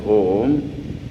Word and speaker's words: Om: And it is explained in Sanskrit A, U and Pronounced in combination, when it is pronounced in combination as Om, may well be the generalized symbol of all possible sounds.